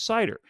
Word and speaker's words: CIDR: internet domain routing or cidr pronounced as cider kind of reminds me